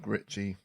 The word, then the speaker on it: Gritchy: Gritchy, G Ritchie, as in Guy Oh Ritchie. yeah, Gritchy.